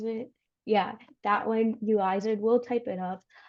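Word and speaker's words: Uizard: Yeah, there's also Uizer. Is that how you pronounce it? Yeah, that one, Uizer.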